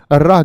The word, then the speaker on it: ऋ: देता है बोल के देखिए ऋ की तो उच्चारण में किसकी आवाज आती है र की आवाज आती है और र क्या है